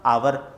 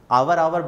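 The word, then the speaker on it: hour: यहां पे यहां पे सभी लोग कहते हैं ह साइलेंट होता है ह साइलेंट होता है तो इसका जो प्रनंसीएशन क्या होना चाहिए था अवर और जो ज्यादा इंग्लिश सिख जाते हैं मैं आपको बता रहा हूं overable बुलाते हैं गलत है ठीक है इसका सही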